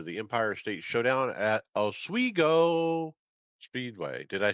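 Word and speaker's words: Oswego: Modified return to the Empire State Showdown at Oiggo Speedway. Did I say it right, Greg? Yeah. Is it swiggo or swo? Ogo.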